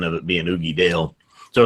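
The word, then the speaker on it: Uigeadail: Now you keep saying Oogie Doll. I'm pretty sure it's Oogie Dale.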